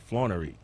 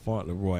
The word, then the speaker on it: Fauntleroy: always pronounce your last name wrong I've always pronounced it flaw re how do you whistle pronunciation talk like his